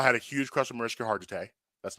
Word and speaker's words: Mariska Hargitay: First of all, I had a huge crush on Mariska Hargitay. That's #1. That's how you pronounce her name?